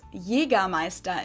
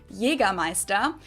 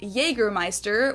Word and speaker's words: Jägermeister: From shoes to alcohol, this is pronounced Jägermeister in German, Jägermeister. English speakers usually say Jägermeister, which is pretty much the same, just with a pretty thick accent.